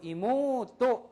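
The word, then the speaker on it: 妹: 우발음 이모우또가 아니고 이모또 그죠?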